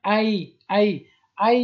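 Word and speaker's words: ail: و اینجا سیرم با سیر میگن ای یعنی اینجا ال تلفظ نمیشه دوستا، ای.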